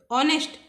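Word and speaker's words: honest: एन ऑनेस्ट मैन, मैन को छोड़ दो, ऑनेस्ट इसके जस्ट बाद क्या है ये देखो, एच साइलेंट है, एच को छोड़ के पढ़ो, बाकी का क्या होगा, ऑनेस्ट।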